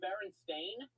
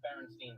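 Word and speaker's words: Berenstain: realize it so the baron stain Bez is what it's called but everyone grew up thinking it was called the baron Stein Bez it's Baron stain and everyone thinks it's baronin Bez so the theory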